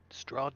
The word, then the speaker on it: Strahd: drawn to that list strod yes is there I hear an H in there straw strong where I come